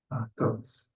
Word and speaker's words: Gotts: Goats, Goats. sorry. GOTZ, I think pronounce it goats.